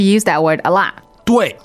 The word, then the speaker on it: 对: Okay, 对 is spelled D-U-I, fourth tone.